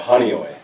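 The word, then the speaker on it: Honeoye: And they grew up in, please tell me how you pronounce that hometown. Call it Honeyoy.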